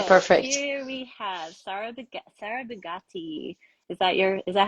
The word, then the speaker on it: Sara Bigatti: here we have SAR Sarah buatti is your is that how I'm saying your name is that right perfect very good Italian pronunciation okay yes so you